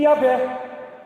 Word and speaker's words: Yahvé: Se você colocar um A entre o Y e o H inicial e um E entre o W e o H final, fique Yahvé.